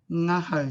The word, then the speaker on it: ngaho: So whare tapere and Ng ngaho. So you think about the word sing a song. So that soft G with the Ng sound is the pronunciation of that digraph.